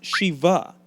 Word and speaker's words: Sheba: the way it's pronounced it's actually pronounced Shiva no not that Shiva that name should sound